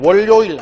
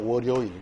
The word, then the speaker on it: 월요일: 다음에 얘는 송별연 바로 연음하는 게 표준 발음이라는 거 알아두셔야 돼요. 얘도 바로 얘는 굴욕 아닙니다. 굴욕. 마찬가지 금연, 담배 피우잔. 다음에 월요일 아니죠. 월요일.